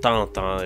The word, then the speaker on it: Tintin: Hergé's Adventures of Tintin, or Tintin if you want to pronounce it the French language way.